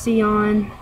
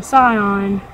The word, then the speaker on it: Scion: Her name's Sion, or not Sion, Scion. She is a Sion. Her name is spelled like cars, whereas her strain, Sion, is spelled without a C in it.